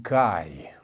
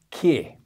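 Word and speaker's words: καί: Caracteristicamente, como acontece em Marcos, a perícope começa com um kai, ou então como os antigos pronunciavam e os modernos gregos pronunciam, que.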